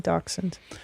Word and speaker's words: dachshund: Yeah, dachshund.